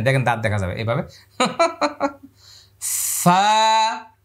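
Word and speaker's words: ف: করেছিলাম আলিফ মানে শেষে ফা ছিল ফা ফা এক এখানে পরিমাণ লম্বা ফা এভাবে বারবার বাতাসটা দাঁত এখানে লাগায়ে দেন ফা ঠোঁট লাগাইলে আর ফা হবে না হ্যাঁ এরকম করলে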